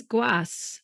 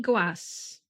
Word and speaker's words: Goisses: I've looked it up, and apparently it is Goisse. Apparently Goisse.